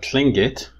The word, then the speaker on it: Tlingit: This is indigenous people near Alaska, and they're called Tlingit, but in English, they usually call them Tlingit. And why does that happen? Like in pronunciation, why does this tla become kla?